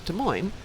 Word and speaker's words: Des Moines: from Illinois in that they say Des Moines as Des Moines, where in Illinois we would say something that's spelled with the French versions like that. Like Desplaines is Desplaines. If it's got a letter, we're saying it. None of this silent letter stuff.